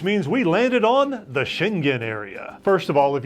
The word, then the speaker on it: Schengen: we landed on the schengen area first of all if you're traveling to europe you have to know about the shingen area and yes it is pronounced that way shin gin the area is not